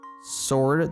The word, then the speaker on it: sword: Sword. There's 1 silent letter, which is the W.